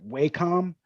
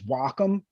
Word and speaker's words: Wacom: On the East Coast, most people generally tend to pronounce it Wacom. It's the technical pronunciation is Wacom.